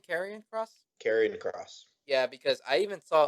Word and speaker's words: Karrion Kross: Karrion Kross.